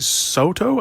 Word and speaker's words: Sato: found its director in shinsuke soto i think that's how you pronounce er sato sato it's probably sato uh shinsuke sato sato